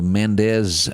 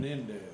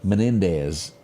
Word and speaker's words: Menendez: hold off on the Mendes men Mendes how do you say the name Menendez Menendez brothers y'all remember them until